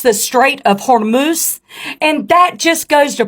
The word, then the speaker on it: Hormuz: But just to let you know, Farmer Lance, it is pronounced the Strait of Hormuz.